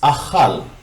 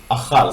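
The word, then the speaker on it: אכל: Achal starts with aleph, and as you can see, the aleph is with kamatz, so it's a, and then cha, because it's a kaf without the gesh, so it's pronounced as ch. And it's with patach, so it's also the vowel a, cha, l, lamed. The sound is l.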